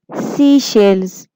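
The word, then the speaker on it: Seychelles: Pronounce it. सीशेल्स.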